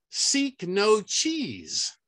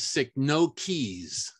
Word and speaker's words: Cycnoches: could be right or seek no cheese pretty sure that's not right but the proper pronunciation is sick no keys with the emphasis on the no sick no keys the